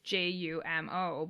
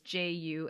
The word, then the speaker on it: Jumeau: You look it up online, and like in the subtitles, her name is Jumo, but when you look it up online, the company is Jumeau in the French. but they're basically pronounced the same, so it doesn't really matter, right?